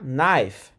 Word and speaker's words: knife: a gente vai pra knife. Tá vendo aquele aquele K, aquele K no começo da palavra? Ele é mudo, ele não tem som. Então, knife, faca, assim como night de cavaleiro.